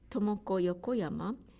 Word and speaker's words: Tomoko Yokoyama: For example, when you read my name, Tomoko Yokoyama, in English style, it sounds like Tomoko Yokoyama because in English, you need to put stress somewhere in each word. So you push the syllable to put stress. But we don't do that in Japanese. You should put equal stress to all syllables.